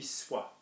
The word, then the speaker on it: soit: So our core, and I stress this isn't a real verb, our core would be soit, okay, that rhymes with moi, toi.